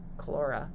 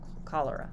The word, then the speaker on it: cholera: into a disease-causing agent so now cholerae or chlora no i'm saying this wrong damn it loving a timer cholera cholera that's how you say it um now it